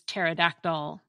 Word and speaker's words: pterodactyl: Notice that we pronounce the P with no problem at all when it has a vowel before it, in words such as helicopter and lepidoptera, the scientific name for the order of butterflies.